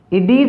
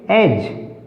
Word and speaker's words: edge: इडीज नहीं बोलना इस वर्ड को, क्योंकि डी को बोल जाएंगे तो हमारा उच्चारण गलत हो जाएगा। इसको क्या बोलेंगे, एज, यहाँ पर डी साइलेंट है।